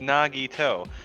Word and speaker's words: Nagito: she's like no it's nagito i'm like i don't understand oh wait i know how i remember it eggnog on your toes there we go i'll